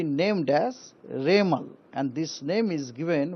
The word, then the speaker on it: Remal: उनको नाम होगा रेमल रेमल प्रोनंसिएशन होगा रेमल उसका स्पेलिंग आए आर ई एम ए एल रेमल यह नाम एक्चुअली